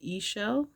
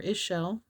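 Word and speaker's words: Ixchel: And it is pronounced Ishel or Ishel.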